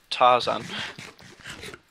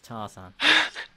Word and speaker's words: Tarzan: The word is Tarzan. Tarzan. The word is Tarzan. I feel like an ape sometimes. I feel like Tarzan. The word is Tarzan. Tarzan rhymes with Parmesan.